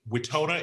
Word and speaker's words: Wetona: of your information correct first is waytona is that how you pronounce your name now yes okay that is spelled